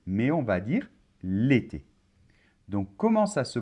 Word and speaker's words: l'été: Alors, on ne va pas dire, par exemple, le été, mais on va dire l'été. Donc, comment ça se prononce? Ça se prononce comme si, dans l'été, comme si le L était collé.